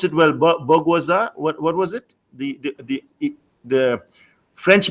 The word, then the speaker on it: bourgeoisie: I didn't pronounce it well. Bourgeoisie.